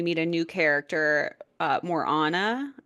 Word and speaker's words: Morana: a new character uh Morana I believe is how you say it m o r a yeah and she's